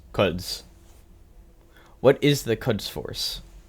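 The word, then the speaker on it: Quds: you even say that cuds Force I've confirmed is pronounced cuds what is the cuds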